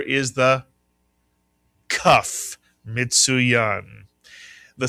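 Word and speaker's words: כף: It is a C sound and the name of the letter is the cuff.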